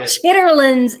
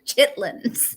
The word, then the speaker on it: chitlins: It's not chitterlings either. It's chitlins. Say it right. I know chitlins in the South, chitterlings everywhere else.